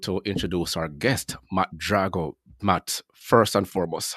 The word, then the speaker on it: Drago: Drago. I'm the Italian version, but Rocky 4 is probably how most people know my last name. That's Drago. That's the Russian pronunciation, but I'm Drago.